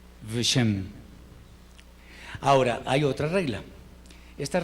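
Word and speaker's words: ושם: Veshem. Veshem. Acordémonos otra vez la regla que vimos hace un rato, que cuando la sheva está en la primera letra, se pronuncia, pero pues no es una E, sino Veshem, Veshem.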